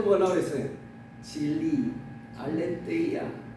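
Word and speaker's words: ἀλήθεια: 진리, 알레테이아, 알레세이아 발음이 여러 가지로 있는데 알레테이아 진리를 맞죠.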